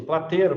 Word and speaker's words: Platero: Platero, é assim que pronuncia? Isso, Plateiro, professor. Plateiro? É, espanhol. Mas depende da região, é da Andaluzia.